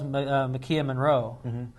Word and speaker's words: Maika Monroe: did a good job overall and that was McKeon Monroe yeah that's how you say her name she